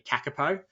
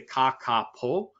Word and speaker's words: kakapo: to, guys, is the kakapo. It's hard. That one's I've got to say it properly. If my Australian accent came out to be kakapo, but is the kakapo.